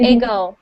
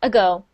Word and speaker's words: ago: Like, for example, when you said the word ago, you said ego, ego. But really, native English speakers, we have a tiny sound, ago.